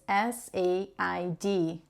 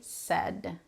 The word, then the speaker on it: said: So the verb say in the past is S-A-I-D. Drop the I, forget about it. We say said, said. And it's exactly the same pronunciation for when you're sad, you know, sad, crying, you're sad.